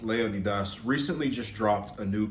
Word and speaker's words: Leonidas: our boy alex leonitis properly pronounced Leonidas recently just dropped a